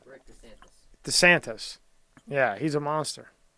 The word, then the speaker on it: DeSantis: DeSantos. I always say his name. How do I say his name? DeSantos. He's the best. DeSantos. Skinny Vinny. How do I say his name? Rick DeSantis.